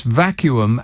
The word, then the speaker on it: vacuum: are of course correct it's vacuum as in continuum there you are you